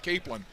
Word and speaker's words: capelin: I remember going down to the beach and just scooping up capelin. But it is pronounced, I did actually check with the man himself. Diego said it's Capelin.